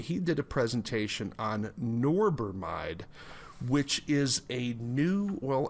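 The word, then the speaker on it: norbormide: New Zealand and he did a presentation on norber mide which is a new well actually probably an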